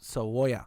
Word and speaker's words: cebolla: That's not even how you say it. Cebolla. No, How do you say it? How you say cebolla. That. What the fuck? I just said that. No, your accent, dog. You had to Oh. say the yo.